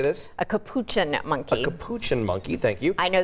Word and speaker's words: capuchin: how do you say this a capuchin monkey capuchin monkey thank you i know this because i